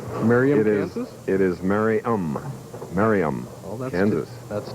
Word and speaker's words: Merriam: For years, I've been pronouncing their hometown differently from what it's really pronounced. Merriam, Kansas? It is Merriam.